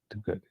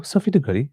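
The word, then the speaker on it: Sophie de Goede: It's Sophia, I think, not Sophie. De Good. No, Sophie De Goody. I was right the first time.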